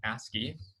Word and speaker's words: ASCII: And so the 2 most famous of these, sort of like the 2 original ones, are the English US one, Ascii, is pronounced ASCII, and then sort of the competing Russian or Soviet Union one, KOI8.